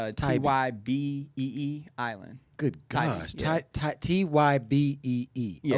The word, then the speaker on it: Tybee Island: Tybee. It's Tybee Island.